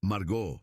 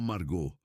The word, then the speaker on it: Margaux: «Es Margaux, no Margot.